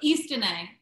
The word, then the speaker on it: Istine: um totally totally totally agree with you so East are we pronouncing this correctly Angela east east yes East